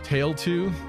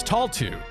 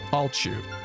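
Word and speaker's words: Tailtiu: this girl's name is Taltu. Taltu? It's not tail. Even though it's spelled tail, it's tall. Talchu.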